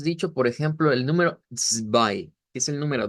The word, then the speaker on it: zwei: Así se escribe el número 2 en Deutsch, pero se pronuncia zwei.